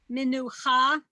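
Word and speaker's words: מְנוּחָה: In general, Hebrew words are accented on the last syllable. That's a So rule of challah. thumb, so to speak. So it's challah, lechem, minucha, echad.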